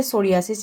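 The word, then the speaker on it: psoriasis: इसके बाद है विटोलिगो और उसके बाद है सोरियासिस। यहां पे पी साइलेंट है।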